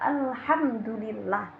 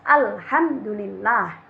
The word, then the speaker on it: alhamdulillah: Dan caranya membacanya dengan jelas, tidak boleh dengung. Contohnya seperti di nyanyian tadi adalah kata alhamdulillah. Alhamdulillah, tidak boleh alhamdulillah, tidak boleh. Karena di situ ada mim sukun bertemu dengan dal.